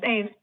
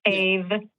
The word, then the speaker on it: Ave: Yes, Ave. Kind of like the same emphasis as atheist. So Ave.